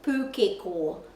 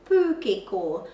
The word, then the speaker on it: pūkeko: So we say pūkeko, but the pronunciation of the letter O in Te Reo Māori is O, pūkeko, pūkeko.